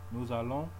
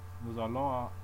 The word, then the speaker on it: nous allons: The liaison is the name given to the sound produced by carrying over the last consonant of one word to the first vowel of the next, rather like an apple. So, for example, we pronounce nous allons, nous allons.